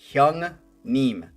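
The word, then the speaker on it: 형님: Hyung Neem.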